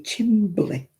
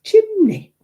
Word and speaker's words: chimney: When people over here say chimbly, it's chimney.